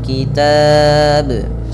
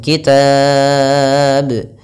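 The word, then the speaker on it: الكتاب: taqilun itu mad thii tapi kalau kita wakaf maka dia menjadi Mad Arid di sukun kitab kemudian kita panjangkan boleh dua harakat boleh empat harakat boleh en harakat Kemudian untuk lafal bnya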